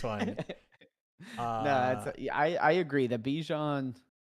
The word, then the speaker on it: Bijan: It's like Bijan. Bijan. Like rhymes with the Sean. Bijan, not Bijan. I think it's the Bijan.